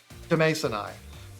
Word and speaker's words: Demasoni: So I guess I'll take the L there, but it's definitely Demasoni.